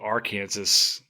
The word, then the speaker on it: Arkansas: the Arkansas River only do you know how they pronounce it in AR in Kansas think about it for a second they call it the r Kansas the r Kansas River it's it's it's painfully